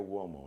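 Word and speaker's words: Uomo: It's pronounced Mario Womo. An Italian surname.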